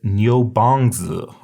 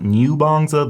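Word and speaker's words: niúbàngzǐ: And so that's why it turns out that this would be pronounced Nyo, and you just say it really fast. So it's Nyo. So this is not Nyobanza, this is Nyobanza.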